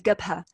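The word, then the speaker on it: جبهة: In this presentation, I'm going to follow local practice in Dhufar and refer to the Front, as Gubha, in the local pronunciation.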